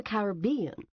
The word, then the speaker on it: Caribbean: In the Caribbean, Mr. Mandama said in the midst of the storm, pronouncing the name of the sea in the British manner with the emphasis on the third syllable.